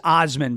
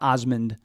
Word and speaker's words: Osman: So it was Osman, by the way, O-S-M-A, and I think it's pronounced Osman, but not Osmond with a D, O-S-M-A-N.